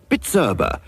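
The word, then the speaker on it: Bizerba: Machinery is bitera b i z e RBA pronounced bitera so now you can pronounce it give your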